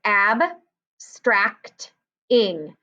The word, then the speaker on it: abstracting: If you said open, that's not correct because we don't hear the A saying straked. There's no magic E. It says stract, so it is a closed syllable.